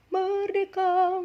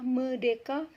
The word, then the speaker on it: merdeka: Contohnya tadi seperti merdeka, merdeka, yang sering terdengar itu adalah medeka, medeka.